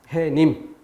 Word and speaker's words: 해님: 뒤에 조건에 해당되지 않기 때문에 이것은 사이소리가 아닌 것이고, 그렇기 때문에 이것을 발음할 때 니은음을 넣어서 햇님이라고 발음하지 않고, 또 표기할 때 시옷을 넣어서 표기하지도 않는다. 해님.